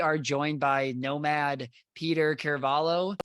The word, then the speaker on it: Ciravolo: So it's Ciravolo.